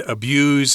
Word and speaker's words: abuse: abuse is the verb abuse is the noun you probably heard a difference in pronunciation there with tom saying those words so the verb is abused with a z and the noun is abuse with an s don't forget that now